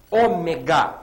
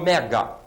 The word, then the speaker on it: ômega: está também relacionando aqui Ômega e não ega Ômega proparoxitona você vai